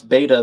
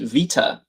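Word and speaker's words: βήτα: Did you know the Greeks don't pronounce beta the way you see it? It's pronounced vita.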